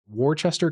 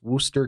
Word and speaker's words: Worcester: Uh a Cookamac County and Warchester County. It may be pronounced that. If it's pronounced like Massachusetts, it's Worooster County.